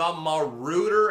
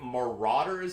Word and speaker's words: Marauder: come clean about something I was calling it the marui der it's actually marauders how it's pronounced I didn't want to